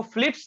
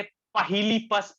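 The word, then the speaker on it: Philips: एक लड़का इसको पढ़ा, इसको फिलिप्स ना पढ़ के पहिलीपस पढ़ दिया, पहिलीपस।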